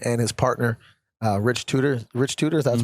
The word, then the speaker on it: Tudor: Rich Tudor, that's pronounced?